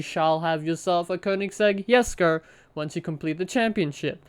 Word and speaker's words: Jesko: are unlocking the koenigsegg yes go i wanted to say jessica but apparently because like the swedish pronounce it as um with the y so it's yes go so that's how you